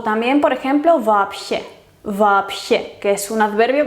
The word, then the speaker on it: вообще: Pues la sh es sorda y entonces la B anterior se tiene que pronunciar sorda también y su pareja es la P. Por eso вообще, вообще.